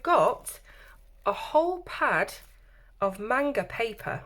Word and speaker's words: manga: Okay, so we've got a whole pad of manga paper, or manga as my son would say. It's pronounced manga.